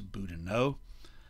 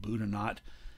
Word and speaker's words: Boudinot: Now, it looks like if you speak French that should be Elias Boudinot. He and his family pronounced it Boudinot.